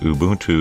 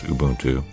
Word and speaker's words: Ubuntu: and install now I've been taught that Ubuntu is the correct pronunciation but you know what teaches zone I